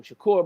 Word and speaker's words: Shakur: Shakur might Yeah, you said it right.